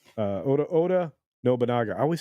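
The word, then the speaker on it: Oda Nobunaga: probably be for obona who's an actual Samurai Oda obona uh Oda Oda noaga I always say his name wrong thank you for the correction Carlos Alfredo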